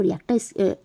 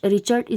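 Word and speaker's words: Richter: उस स्केल को हम रिएक्टर स्केल बोलते हैं। तो अलग अलग नाम से इसको प्रोनाउंसिएशन करते हैं, रिएक्टर स्केल। तो ऑप्शन नंबर सी जो है यहाँ पर रिचर्ड स्केल भी बोलते हैं इसको।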